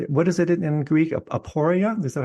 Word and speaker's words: aporia: Aporia? Is that how you pronounce it? Well, that's like not knowing, aporia.